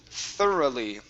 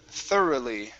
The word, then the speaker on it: thoroughly: good much better uh this word here is pronounced thoroughly thoroughly thoroughly slowly all right very good very good